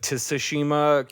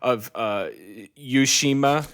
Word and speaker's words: Tsushima: Best Art Direction was Ghost of Tsushima, which, funny enough, has been mispronounced in the Game Awards so much. It was Ghost of Tsushima. Oh my God. Ghost of Yushima.